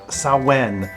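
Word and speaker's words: Samhain: of years to the Celtic Festival called saen yeah it's spelled really weird Sam h a i n but it's Celtic so it's saen yeah it was a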